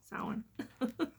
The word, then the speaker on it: Samhain: um sellin or champagne i used to say sam hand all the time and then someone's like well it's pronounced sound so we're going to do saw one first